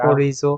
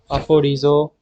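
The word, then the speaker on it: ἀφορίζω: aphorizo, 아포리조. aphorizo, F 발음, R 발음, Z 발음이 나죠.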